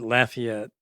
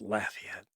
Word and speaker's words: Lafayette: heart because I'm from Louisiana and where we pronounce it Lafayette, you know. So, every time someone says Lay it, I'm going like it's Lafayette.